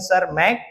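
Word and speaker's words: Tschermak: देखोगे Karl coherence और Eric one सर मैक T silent है इन्ह इन्होंने इंडिपेंडेंटली रिीडिसवरी की।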